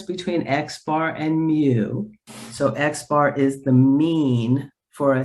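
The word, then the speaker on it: x̄: bar on the top of it and it's pronounced xar and it's the mean of a set of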